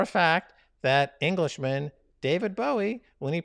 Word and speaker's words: Bowie: It's not pronounced Bowie. David Bowie doesn't pronounce his name David Bowie. You're just trolling the world with that. You're making a mockery of the world with that. Your queen and your whole aristocracy, your monarchy, your House of Lords. You can flush them down the toilet because they're worthless. Well, David Bowie became a New Yorker, right? He's always pronounced his name Bowie.